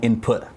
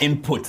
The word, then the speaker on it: Input: Speaking of Nez, there's word going around about you and Nez, the song Input. I know the T is silent. It's not input, as we Zambians would pronounce it. It's input. Input.